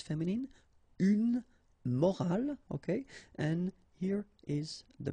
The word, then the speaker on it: morale: but in that case you get this at the end, which is silent, so you don't pronounce it. So clearly it is the same pronunciation for the two words, but then in that case it's feminine, une morale, okay?